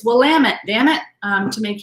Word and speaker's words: Willamette: areas in blamet valley so it's willamette not willamette um if you're out there they'll tell you it's willamette damn it um to